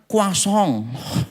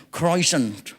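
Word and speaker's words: croissant: enggak jelas gitu kan Ya itu tulisannya choisan Bacanya kasong apa Gak emosi coba saudara tulisannya sama bunyinya itu loh enggak ada hubungannya sama sekali gitu kan Ya tulisannya troisan saya bacanya awal itu kan kayak inggris-ingrisan k croison salah kasong itu ada nama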